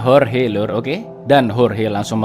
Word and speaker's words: Jorge: di sana bernama horhe tulisannya Jorge Tapi bacanya horhe Lur Oke dan horhe